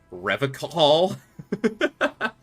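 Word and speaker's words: Revachol: strong forever call uh-huh it pronounces with a hard K unlike other people oh God serious question time this man is no innocent no one is you've said you said rev a call foreign Rags oh so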